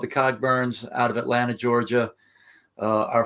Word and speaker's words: Cogburn: But we kind of think that maybe he was saying it wrong, and it might have been Coburn.